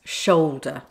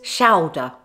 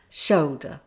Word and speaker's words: shoulder: Of course, there's always an exception in British English, and that's shoulder with the O sound, not to be pronounced as shoulder, shoulder.